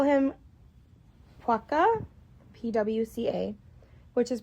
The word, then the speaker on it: pwca: The Welsh call him paca pwca which is pronounced as the oh pronounced as the same as his Irish condition puka.